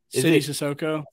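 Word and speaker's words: Sidy Cissoko: So I want to talk mostly about Leonard Miller and how do you pronounce his name? Sissoko? City Sissoko.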